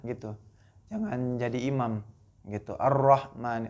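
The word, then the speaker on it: الرحمن: Ar-Rahman, ro-nya tuh harus jelas.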